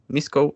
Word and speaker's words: Misko: my surname which is spelled like m-i-s-k-o misco super easy five letters